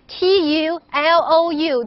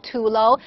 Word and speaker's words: tulou: this this is called tulo if you don't speak Mandarin remember to spell it as t-u-l-o-u too low the name is tulo and you can translate